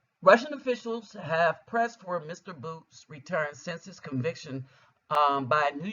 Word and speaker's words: Bout: Bout, pronounced Bout, one of the world's most prolific arms dealers.